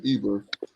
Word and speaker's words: Eber: Let's see how they pronounce it. Strong's H 5677. Aver.